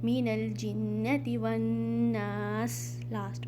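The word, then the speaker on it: وَالنَّاسِ: मिनल जिन्नती वन्नास। Again वाव के बाद अलिफ हमज़तुल वसल साइलेंट अलिफ, तो आपने यहाँ पर वाव को नून में मिलाना है।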